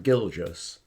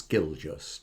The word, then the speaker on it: Gilgis: By the way, as regards my name, my surname, Gilgis, so you can remember, it's spelt as in gorgeous. Well, I know I'm gorgeous, but it's Gilgis, G-I-L, but gorgeous, yeah, Gilgis.